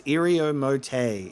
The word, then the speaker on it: Iriomote: It is it's Iriomote. It is mote.